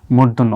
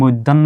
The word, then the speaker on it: মূর্ধন্য: মূর্ধন্য হয় যেমন আসলে আমরা এটাকে কি বলি মূর্ধন্য অনেকে কিন্তু মৈধন্য বলে আসলে কি বাংলা ভাষায় মৈধন্য বলতে কোন শব্দ নাই এটা হচ্ছে ন আর